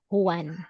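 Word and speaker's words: Juan: So, here s this word is actually Spanish. So, it is pronounced as one. one like that. Wow. Yes. Like some Filipinos of some Filipino name are also Huan.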